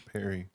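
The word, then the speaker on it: Parry: Is that how you pronounce pari? Perry. P A R R Y. Perry. It's Perry.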